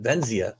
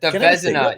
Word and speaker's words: Vezina: What is it? Venzia. The Vezina. Yeah, the Vezina.